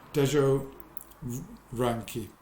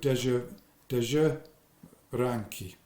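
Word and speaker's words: Dezső Ránki: okay so that's uh Deo ranki I think that's probably how you pronounce it uh Zs in Hungarian is J SZ is s okay so de de ranki I think it's the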